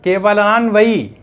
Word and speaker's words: केवलान्वय: केवल केवलान्वय केवल अन्वय तो केवलान्वय इस प्रकार का उच्चारण होगा।